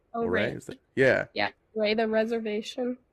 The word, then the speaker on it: Ouray: Ouray. Ouray.